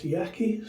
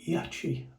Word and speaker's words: Yaqi: get going with this Yaky slant 37 now or Yi I think is the correct way of pronouncing it now it's a slant